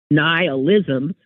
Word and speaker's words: nihilism: um but Jonathan writes I've always pronounced nihilism to rhyme with annihilate they are related terms